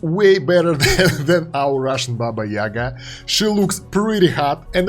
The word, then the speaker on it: Baba Yaga: We have the new hero, Dimensional Hero in AFK Arena, and this time it's Baba Yaga. Yes, this is how it's pronounced in Russian, and let's go and take a look at her.